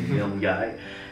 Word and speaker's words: Milngavie: Ça s'écrit Milngavie, mais c'est vraiment dans le train, faut pas manquer notre sortie, c'est Milngavie.